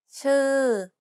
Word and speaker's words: ชื่อ: ชื่อ Did you pronounce the vowels correctly? One of the vowel sounds doesn't exist in English. It's the unrounded U.